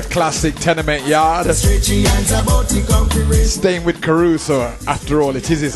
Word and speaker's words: Kharuso: The name is spelled K-H-A-R-U-S-O. That's K-H-A-R-U-S-O, Caruso.